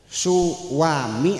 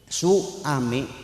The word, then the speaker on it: suami: Suwami apa suami? Ada w-nya enggak? Ada enggak ya? Suami apa suwami? Sekalipun tidak ada w-nya, suami dibacanya suami tetap aja. Betul enggak? Itu adalah suara yang muncul akibat pertemuan antara a dengan u.